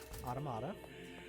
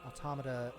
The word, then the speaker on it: Automata: out first compared to automata or automata it depends on your desire for pronunciation since technically it's um automata as in automaton but um in the platinum and square enix studio they pronounced it both ways you can get outside